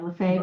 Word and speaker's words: Lefebvre: Yeah, Lefebvre is how it's pronounced. It's not how it's I spelled.